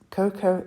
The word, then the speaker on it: Coco: Oriental you've just created cocoa from Chanel or coco de Chanel as it's pronounced in French it was released in